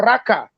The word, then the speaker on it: Oraka: debate that my name oraka originates from the igbo speaking people i tried as much as possible to explain that the name of raqqa is two syllables aura in urobo meaning from so my grandfather my